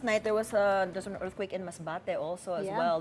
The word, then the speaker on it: Masbate: At least you said it correctly. Not Masbate. Yes, because she was afraid she was going to mispronounce it because we say it a different way.